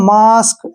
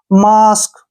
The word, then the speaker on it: mask: जैसे MASK, ठीक है ना, ए के बाद फिर क्या है इकट्ठा, SK, इसको मास्क, ऐसे, ए का उच्चारण आ करेंगे, ठीक है ना, मास्क।